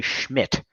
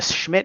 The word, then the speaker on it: Szmyt: Although I did see that they're starting a new kicker, Andre Schmidt. And the Schmidt is spelled that's interesting.